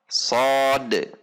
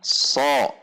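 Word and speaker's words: صاد: Shad, bukan so. Kalau so berarti sudah memiliki harokat fathah. Shad, fathah, so. Shad, kasrah, si. Namun jika tidak memiliki harokat, maka ini dibacanya adalah shad. Perhatikan, karena masih banyak yang sering menyebutnya dengan so.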